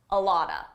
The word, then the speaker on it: a lot of: A lot of is pronounced a lotta, a lotta.